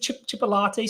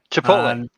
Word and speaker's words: chipotle: Is it chipolate sauce? Is that how it's pronounced? Yeah. Chipolate sauce. Chipotle. Chipotle sauce, and it had cheese